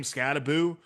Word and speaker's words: Skattebo: Cam Skattebo, which I've come to find out is actually how you pronounce his name, Skattebo, which is funny to me.